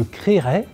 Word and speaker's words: créerai: comme créer mais attention alors qu'on entend distinctement les deux e à l'infinitif ce n'est plus le cas au futur et au conditionnel on écrit je créerai C r accent aigu